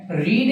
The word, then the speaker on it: read: খেয়াল করো কামাল রেড, এখানে উচ্চারণ করেছি কি রেড, রিড এর পাস্ট ফর্মের উচ্চারণ হলো রেড, কারণ এখানে যদি আমি